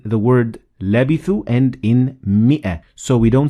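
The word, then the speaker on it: مائة: again in the word labithu and in mi'a. So we don't say mi'a, we say mi'a. So there is no alif there.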